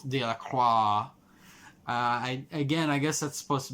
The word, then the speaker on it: Delacroix: Delacroix. There's an X in there, which I'm like, I guess the X is silent, so it's Delacroix.